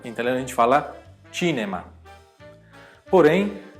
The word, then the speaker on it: cinema: Já a palavra cinema em italiano, a gente fala cinema, porém e a palavra casa a gente fala casa mesmo.